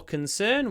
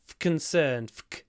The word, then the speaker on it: concern: I don't know concern the r here is not pronounced for concern we say concern concern but for optimism